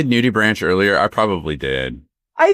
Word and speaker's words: nudibranch: We're talking about nudibranchs, which that is how you say it, right? I keep wanting to say nudibranches, which again, that's probably a very different thing. It's a branch full of naked people. Nudibranch.